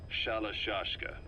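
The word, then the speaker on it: Shalashaska: because somewhere along the line, Shashka got stuck on the end of Sharashka. The guerrillas were using the name amongst themselves. By the time I got to hearing about it, pronunciation had wound up as Shalashashka.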